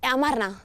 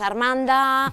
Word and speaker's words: Amarna: Amarna. Malnom? Mi nombre lo suelen pronunciar mal, así que pues Armanda, Aranda, de todo.